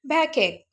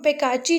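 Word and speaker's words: backache: बैकएक। इसको हम बेकाची नहीं पढ़ेंगे, जो मोस्टली लोग जो है वो कहेंगे इसको बेकैची। ये गलत वर्ड है, इसकी प्रोनाउंसिएशन क्या होगी जी? बैकएक।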